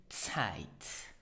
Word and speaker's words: Zeit: So pronounce it Zeit.